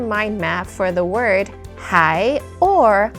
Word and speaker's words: 还: And today we're going to talk about the character mind map for the word hai or huán. So two different pronunciations with different meanings.